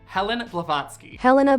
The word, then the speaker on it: Helena: So much so that the co-founder, Madame Helen Blavatsky, that's not how you say her name, Helena Blavatsky, her is called the great-grandmother of the New Age movement.